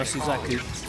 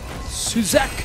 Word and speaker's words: Suzaku: I think I've trained myself to say that properly now, Suzaku. Yep. Suzaku! The official pronunciation.